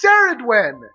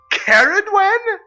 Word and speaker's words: Ceridwen: It's Ceridwen. Caridwen? It isn't even a C. There is no C to be a hard C. It's an S. At the very least, it could be Zeridwen with a Z.